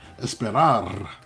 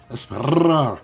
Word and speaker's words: esperar: Esperar. You see, I rolled my R's. Esperar. Esperar. You have to roll your R's.